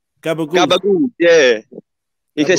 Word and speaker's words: gabagool: Gabagool.